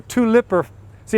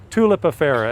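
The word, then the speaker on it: tulipifera: it Lee Rio dendron tulip affero or two Lipper see everybody pronounces I'm different I can't imprint on sit the different way I always learned it tulip affero it almost sounds like it's a tulip affair but if that's that's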